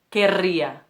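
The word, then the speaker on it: querría: Tem também o verbo querer, que é acrescentado mais um R, mas a pronúncia continua re, querria.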